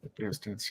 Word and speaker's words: Eratosthenes: I can't pronounce the name. Eratosthenes? Eratosthenes, yeah.